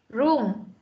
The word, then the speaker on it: room: Room. Đừng có đọc là zoom nhá, bedroom là không phải nhá, bedroom.